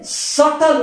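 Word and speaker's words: subtle: ये सटल उसका, इसका, इस बी का उच्चारण नहीं करना, सटल नहीं।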